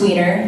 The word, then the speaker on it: Wienner: So, my name is Wienner, and it is Wienner. It's pronounced Wiener.